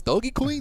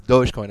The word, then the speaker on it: Dogecoin: I go, "Oh, is this Doggy Queen?" It's like, "No, it's Dogecoin." I don't want I don't want them to go through that experience.